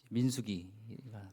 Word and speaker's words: 민수기: 창세기가 끝났고 출애굽기 레위기 민수기가 들어가겠습니다 빠른가요 늦은가요 민수기는 발음을 좀 잘 하셔야 됩니다 잘못하면 사람 이름 같아요 민수기 김민숙 박민숙 민숙이 이름은 그렇지만 굉장히 모세오경에서